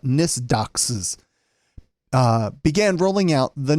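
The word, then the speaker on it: NYSDOCCS: Corrections and Community Supervision that's too many letters to make an acronym n-y-s-d-o-c-c-c-s usually you can pronounce things so we'll call it nist doxes uh began rolling out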